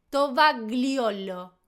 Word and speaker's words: tovagliolo: Tovagliolo.